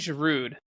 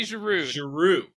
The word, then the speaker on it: Giroud: is your rude Olivier Giroud French don't pronounce the last letter whatever we do in